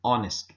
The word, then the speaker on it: honest: a vowel sound an honest person you don't say honest person so honest is more like an o sound so H is almost silent here an our an